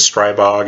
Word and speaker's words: Stribog: impressed with it now some people might correct me on that one say that is strai bog instead of straight bog I've heard of pronounced both ways I've not seen anything